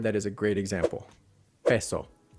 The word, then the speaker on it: peso: Peso, peso, which an American accent will pronounce as peso. Yeah, peso. And here's what he means by the sliding sound. A typical American accent will be peso, pay, like P-A-Y, pay, like pay a bill. Yeah, peso, peso. And we drag out the O as well, but it's peso, peso, peso.